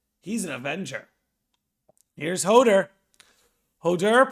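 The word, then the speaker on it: Höðr: an avenger here's hodor hodur pronounced hodar sometimes called had is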